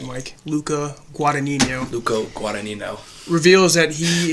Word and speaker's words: Luca Guadagnino: that little moment yeah Luca Guadagnino that's how you say it Mike Luca Guadagnino Luca Guadagnino reveals that